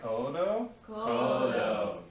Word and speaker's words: codo: elbow called any guesses it's actually called your codo c-o-d-o can y'all say kodo yes very good all right now we're moving